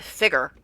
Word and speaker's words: figure: And they pronounce it figure. Like, as in rhyming with trigger.